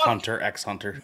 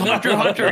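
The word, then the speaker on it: Hunter × Hunter: the kids call it Hunter x Hunter yes hun you it's Hunter Hunter you don't pronounce the X I knew that was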